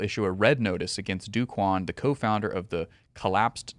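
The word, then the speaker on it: Do Kwon: red notice for tara's duquan so some people pronounce it dokwan so this is a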